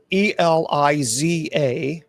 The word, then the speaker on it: Elisa Lam: Yeah, it's Eliza, Eliza. I should say. I think it's Eliza Lam, Lam, Lam.